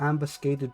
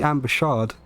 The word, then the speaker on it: ambuscade: It might be ambushade. No, Google says it's ambuscade as well, apparently.